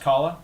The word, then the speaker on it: Kahlo: Frida Kahlo, thank you. You got it. Frida Kahlo? I've always heard it pronounced Kahlo.